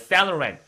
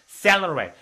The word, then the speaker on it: Saint Laurent: 아니면 Saloran, Saloran.